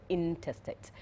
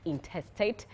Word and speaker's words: intestate: I am slowly learning how to pronounce this particular word, interstate, because it's very easy to just mispronounce it as interstate, but it's intestate.